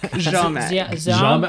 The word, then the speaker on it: Ziomek: recording, make sure that you know how to pronounce Mads' last name. Ziomek? Ziomek. Oh, wow. Ziomek? Yes, I'm glad I did not even try that. Ziomek, Mads.